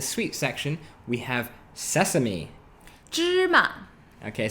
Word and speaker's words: 芝麻: Okay, so that's pronounced first tone, neutral tone. The actual character of the tone is second tone. Ma. But in a lot of spoken Mandarin, the second character is often just shortened to a neutral tone.